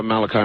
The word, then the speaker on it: Malachi: Father Malachi, is it? Yes. Okay, pronounced it right.